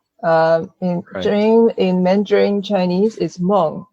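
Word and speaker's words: 梦: Dream in Mandarin Chinese is mong. In Taiwanese, it's the same word but pronounced as mang.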